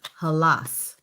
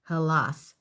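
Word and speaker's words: Hellas: So, Greece in Greek is called Halas. Halas. H E L L A S. Halas.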